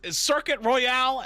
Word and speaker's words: Circuit Royal: is correct we're about to find out it's circuit royale and call laseo and and that's it you've